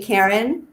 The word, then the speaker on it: Cairn: And you can think back to my name that I chose, which is Cairn Healing Touch. You did get it right. Sounds like I'm saying my name, Cairn, but I'm saying Cairn.